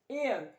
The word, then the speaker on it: heir: एन एयर, pronounce as air.